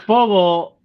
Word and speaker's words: Fogel: Fogel back.